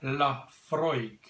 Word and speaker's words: Laphroaig: it's got an ABV or 43% yes 43% pronounced Laphroaig he is an all malt scotch whisky from